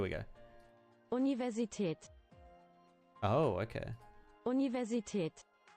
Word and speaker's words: Universität: Universität. Universität. Oh, okay. No, it's actually pronounced that way.